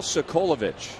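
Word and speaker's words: Socolovich: You know how good I am at pronunciation. So what was the name? Miguel Sokolovich.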